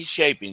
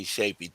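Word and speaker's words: Tschoepe: one in HR, that's going to be Trey Shapy. Now, I'm y'all going to have to look at how to spell that cuz I I know you guys aren't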